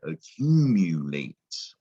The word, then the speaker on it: accumulate: you got to know this letter u can sometimes sound like you not just ooh but you so i like to say when you you can sound like you so when you says you you say accumulate right that's what makes